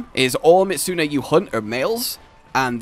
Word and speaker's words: Mizutsune: But it's not a tut sound! You just made a tut sound! It's Mizutsune!